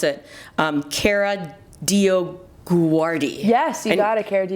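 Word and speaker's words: Kara DioGuardi: her name because i don't know how to pronounce it um cara dio guardi yes you gotta care do you guardian she's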